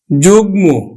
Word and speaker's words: যুগ্ম: উচ্চারণ করবো কিন্তু বাঘ মি বাগমি আবার দেখো যুগ্ম তাহলে আমরা উচ্চারণ করি অন্তস্থ জ এর কিন্তু আমরা উচ্চারণ